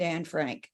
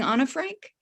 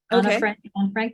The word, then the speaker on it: Anne Frank: which is, I think we usually refer to Anne Frank, but there's a suggestion in the book that the proper way to say it is Anna, like Anna and Sana and Hannah. And I just want to know, should we be saying Anna Frank?